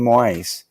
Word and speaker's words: moai: Moai, this is very interesting.